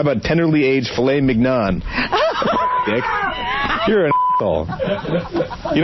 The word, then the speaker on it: mignon: So this idiot goes to Scott, how do you say that mignon? So Scott says, you're pronouncing it right, mignon.